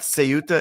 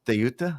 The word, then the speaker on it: Ceuta: It's not Ceuta, it's Ceuta. It's in Spanish, it's called Ceuta, and in Arabic, it's called Ceuta. So there's two different words.